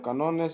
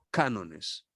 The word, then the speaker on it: cánones: Le voy a interrumpir un poquito porque necesito que hagamos el énfasis en la primera sílaba de esta palabrita y decir cánones.